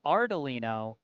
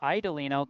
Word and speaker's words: Ardelino: I think I was uh saying your last name was Idelino cuz I think uh I misread the R in your name as an I.